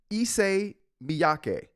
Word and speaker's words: Issey Miyake: The iPhone sock designer, Issey Miyake.